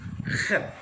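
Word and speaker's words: חית: Parang CH ito, pero ang pronunciation Khat. Yan, pero parang may dito, Parang may halak. parang may halak kasi mga Koreano may ganun din. Pero sa Hebrew, Ano? ganun ang pag-pronounce niya. Yan, Khat. Kaya nga, K. okay. Yung iba kasi pinopronounce ito, chet. Chet. Iba kasi baka maging shet. Oh. Pangit, mali yun.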